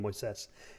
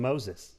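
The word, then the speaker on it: Moisés: moises he has a he has a traditional name moissas and everyone calls him moses it kind of drives me nuts i'm like why did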